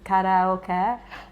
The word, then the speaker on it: karaoke: Like in Japanese it's karaoke, but the So, when people